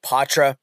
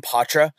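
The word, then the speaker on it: Poitras: the second line third line will be Mattie ptra and that is how you say his name ptra uh will be on that third line with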